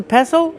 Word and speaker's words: pestle: The T is silent. Don't pronounce the T.